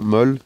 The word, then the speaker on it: MOLLE: dos militaires, avec des passants molles, molly, on prononcera comme on voudra, molly à l'anglaise, molle à la française, un petit peu partout autour du sac qui permettent d'augmenter le volume d'emport si besoin.